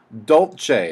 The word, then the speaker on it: dolce: a lot of excitement to the notes okay Dolce is how that next one's pronounced and that means sweetly that means to